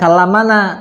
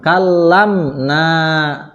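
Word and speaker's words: كلمنا: Gimana bacanya kalam Nah bukan kalamana tapi mimnya disukunkan jadi kamna gitu ya berarti damirnya siapa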